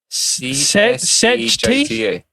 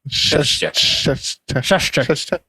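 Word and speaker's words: Csejte: Peasant girls are looking for servant work in, it's C-S-E-J-T-E. CSEJTA. Shashta. But you have to say it like Tommy Cooper. Shashti.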